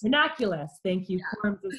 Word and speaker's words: Ranunculus: You spell it? What's that? R-A-N-U-N-C... Ranunculus. Ranunculus, thank you.